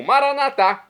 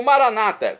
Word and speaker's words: Maranata: e agora eu clamo maranat como dizemos nós católicos ou Maranata como dizem nossos irmãos separados os evangélicos ou protestantes não importa a pronúncia o significado é o mesmo vinde Senhor Jesus um